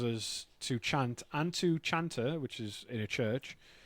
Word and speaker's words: chanter: The front one is there's a French chanter to sing, so it's spelled chanter, but the French do sh, which is why the cat sounds like shat, which is fucking hilarious.